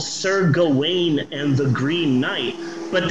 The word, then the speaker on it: Gawain: shocked me is that uh sir gawain apparently it's pronounced gowen and that blew my mind you mean i've been pronouncing this wrong for 45 years yeah apparently it's sir cowan in the green knight oh